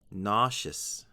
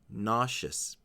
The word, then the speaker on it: nauseous: her s next up nauseous nauseous it looks like this word has many vowel sounds but in fact there are only two the first syllable the